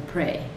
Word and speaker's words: prey: The animal that is being eaten is called the prey. Okay, so pray and pray. They're said exactly the same, but they're going to have a different meaning.